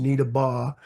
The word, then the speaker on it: Needabeh: Now, it's spelled, if you looked at how it's spelled, it's Needabeh, B-E-H, but it was pronounced Needabeh.